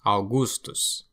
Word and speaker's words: Augustus: AU is pronounced AU, like house, Augustus, Augustus, aurum, gold.